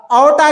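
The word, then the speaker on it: aorta: आउटा को आप artery भी बोल सकते, आर यहां पर साइलेंट है, आउटा पढ़ेंगे, या फिर आर्टरी।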